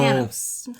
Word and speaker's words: Panos: This film was also directed by, I'm gonna butcher it, Panthos? Okay. Panos? Okay, so Panos. I've been saying his name wrong for a while.